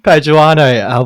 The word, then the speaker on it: Paduano: Paduano, welcome to the WA Running Podcast. Thank you. And that was perfect pronunciation.